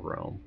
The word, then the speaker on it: Roehm: And that's Rome_21DW, and it's R-O-E-H-M, Rome, not like the capital Rome, R-O-E-M, because they spell it wrong, even though they were first by a long shot.